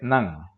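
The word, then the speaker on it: 何: algo y aquí notemos Cómo cambia la pronunciación del kanji del interrogativo que Y es que cuando está seguida de un sufijo de conteo o en este caso de un verbo se lee Nan okay Y cuando está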